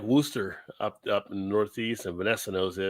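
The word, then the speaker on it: Worcester: one of those things it's kind of like woster up up in the Northeast and Vanessa knows this and it's not spelled like Worster when they spell wer up there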